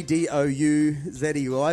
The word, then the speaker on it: Douzey: We called her Douzey because she spells it funny, D-O-U-Z-E-Y, but it's actually pronounced Douzey.